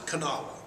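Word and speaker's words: Kanawha: you know what Cana is okay see we pronounce it canaa because it's k a n a h w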